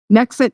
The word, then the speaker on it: NHExit: you have is called nexit now okay so the H is silent I guess just because I want it to sound like exit like it's going to